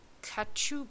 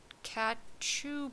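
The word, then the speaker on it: cachou: The pinkish object she saw now was a heart-shaped kachu books. Cat chew box. I'll spell it.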